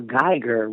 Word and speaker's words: Geiger: I'll say you said it right, as I understand it, okay. Geiger. Yeah, it appeared... Yeah, Geiger. Geiger.